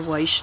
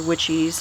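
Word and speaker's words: Wyche: that I grew the Dr. Weish tomatoes, or Dr. Witchies, however you want to pronounce it, I actually looked it up to see which was the correct pronunciation, and they both come up as correct. So it just depends on where you're from, how you pronounce it.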